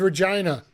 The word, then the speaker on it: Regina: No, it was Regina. The city that rhymes with fun.